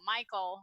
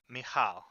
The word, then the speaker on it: Michal: that's it like anyway my first name is mija okay yeah it's hard to pronounce I've been called Michelle Michael I've been called Michael countless times which is also fine